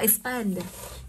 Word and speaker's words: expand: từ đọc như sau đọc là expand cô sẽ thấy được là từ này nó kết thúc bằng L2 phụ âm mình có cái quy tắc như sau này trọng âm thường Rơi rơi vào âm cuối đ không ạ trọng âm thường rơi vào cái âm cuối khi nó kết thúc với nhiều hơn một phụ âm tức là từ hai phụ